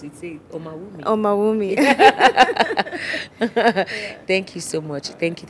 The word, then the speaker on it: Omawumi: um omal with me but how do you pronounce it Oh mommy thank you so much thank you thank you